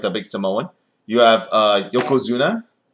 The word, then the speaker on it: Yokozuna: You have Yokozuna. Yokozuna, yeah.